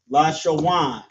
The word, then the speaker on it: Lashawan: So we have la, sha, and then wa and na right here turns to wan. Lashawan. Qua, da, and sha turns to dash. Qadash. La, sha, wan, qua, dash.